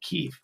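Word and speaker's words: Kyiv: the people in ukraine they want they want to be pronounced keef and you know they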